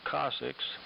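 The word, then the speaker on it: coccyx: And um well uh after falling on my tailbone, also known as the cocc yx pronounced cussix.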